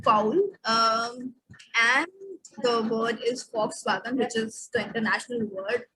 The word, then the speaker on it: Volkswagen: Sorry, it is pronounced as F, and we call it foul, like in foul. And the word is Volkswagen, which is the international word, which we all know.